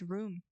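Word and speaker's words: Rùm: summer on an island called rum oh pronounced room the largest of the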